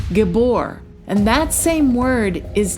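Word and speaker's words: גִּבּוֹר: So in Hebrew, mighty one is pronounced gabbor.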